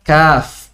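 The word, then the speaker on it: كاف: Bukan dibaca ka, ki, ku, tapi dibaca kaf.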